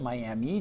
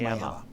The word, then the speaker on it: Miami: Now, I've heard other people pronounce it Miami just like the other the place in Florida, right? But I was I was told it was Miami.